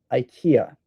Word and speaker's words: IKEA: However, IKEA is a furniture store from Sweden, and I'm pretty sure that it's pronounced IKEA, but in the United States, we say IKEA.